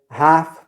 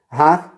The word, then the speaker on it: half: Or more popular to say half past 1. Half means 30 minutes. Half. We don't pronounce the L in the word half.